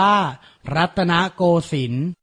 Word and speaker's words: รัตนโกสินทร์: กรณียกิจ อ่าน ว่า พระ ราชกรณียกิจ รัตนโกสินทร์ อ่าน ว่า รัตนโกสินทร์ พระ ปรีชา อ่าน ว่า พระ ปรีชา สาธารณสุข อ่าน